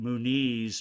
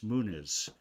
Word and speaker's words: Muniz: And I learned that we don't pronounce it Muniz, it's Muniz.